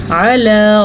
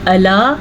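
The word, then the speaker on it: على: علی رسولہ، عین کے تلفظ کا خاص خیال رکھنا ہے. اگر آپ اس کو پڑھیں گے الا تو غلط ہے، آلا پڑھیں گے تو بھی غلط ہے.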